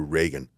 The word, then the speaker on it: Ragan: Andrew Reagan is a young composer and filmmaker. His last name is spelled Ragan.